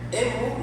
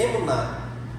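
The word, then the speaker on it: אמונה: A palavra eh hebraica traduzida para fé ou fidelidade é emun. Não sei como pronuncia, irmão, desculpa. É emuná.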